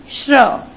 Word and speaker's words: श्र: हमें सिर्फ इसका, इनकी ध्वनि सुनाई दे रही है। जब हम इसका उच्चारण करते हैं तो इनकी ध्वनि निकलती है। श्र, बोलिए मेरे साथ में, श्र, श्र, बोलिए श्र, श्र।